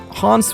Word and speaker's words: Hans: Hans would be a better pronunciation, but they a little back and forth with like English and more Germanic pronunciations.